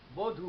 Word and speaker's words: বধূ: এক্ষেত্রে ওই একইভাবেই আমরা যদি একটি শব্দ দেখি ব হয় দীর্ঘ উ, বধূ, কিন্তু আমরা উচ্চারণ করি বধূ, হ্রস্ব উ। যেমন বয়কার হয় হ্রস্ব, বধূ।